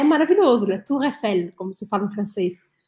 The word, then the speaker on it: Tour Eiffel: Tour Eiffel, como se fala em francês.